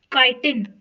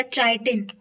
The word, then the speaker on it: chitin: अच्छा, ये एक बड़ी ही इंटरेस्टिंग चीज है, काइटिन या चाइटिन, दोनों प्रोनाउंसिएशन सही है।